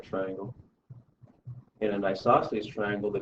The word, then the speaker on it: isosceles: In an isosceles triangle, the 2 congruent sides are the legs of the isosceles triangle.